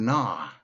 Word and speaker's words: gnaw: So she got to the word gnaw. The dog gnawed on the bone. G-N-A-W. Gnaw. Silent G.